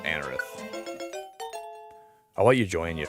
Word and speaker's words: Anorith: I love Anorith or people call it Anerith. I always call it Anorith, but people I think I think the the correct pronunciation's uh Anerith.